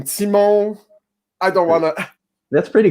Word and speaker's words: Tymon: super fun I have an old friend I pronounce your name Simo I don't wanna that's pretty good yeah and